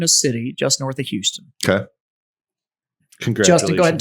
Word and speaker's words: Houston: because back east, Houston, like there's a Houston street in New York City, and they don't pronounce it like that. It's Houston. Houston.